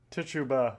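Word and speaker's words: Tituba: Tuttuba. Let me look that up real quick. Okay. How do how do you pronounce Tuba? Tichuba.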